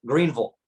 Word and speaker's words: Greenville: like Greenville South Carolina which I just said it wrong it's Greenville I'm not supposed to Sayville apparently that exposes that I'm not from here